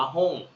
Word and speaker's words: 本: โ นะ ครับ คันจิ ตัว นี้ อ่าน ว่า หุ้ง นะ ครับ แปล ว่า หนังสือ นะ ฮะ หง